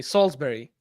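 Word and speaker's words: Salisbury: still weird for me salsbery okay f f yeah but it's but it's written as salesberry which is idiotic you people are weird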